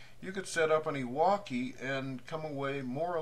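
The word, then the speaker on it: EWAWKI: Then you set up what's called an Iwaki play.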